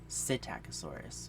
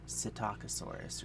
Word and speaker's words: Psittacosaurus: It's got a P in front of it. It should be coming up on the screen now. So I like to say Psittacosaurus, but people say Psittacosaurus or Psittacosaurus or something because it